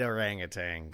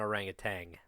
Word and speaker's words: orangutan: Great orangutan. So here I have the synopsis of the movie. I hate to be this guy. It's not orangutan. There's no G.